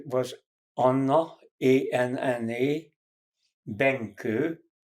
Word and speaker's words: Benkő: Her name was Anna, A-N-N-A, Benke, B like boy, E like Eve, N like Nancy, K like Kathleen, O with two accents on it, pronounced Ö.